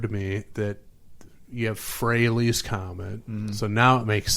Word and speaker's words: Frehley: Then we get Frehley's Comet, which I always said Frehley's Comet, and never until recently put two and two together and realized it's supposed to rhyme with Haley's Comet.